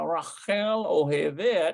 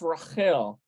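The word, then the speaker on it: רחל: uh we have uh Rachelle so Raquel likes so this is like uh Rachel uh but it's pronounced Rahel uh oh hey there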